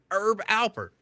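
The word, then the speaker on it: Herb Alpert: was thought it was herb but I was just told no the H is silent it's Herb Albert what he he was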